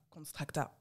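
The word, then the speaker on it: Konstrakta: Voilà, Constracta. Ah ouais. C'est ça qu'on dit? Oui, c'est comme ça que ça se prononce.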